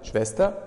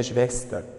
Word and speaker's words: Schwester: Schwester. خلي بالنا من النطق ديت. Geschwister. والتانية Schwester.